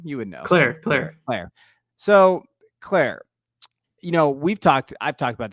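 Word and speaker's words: Klare: Claire.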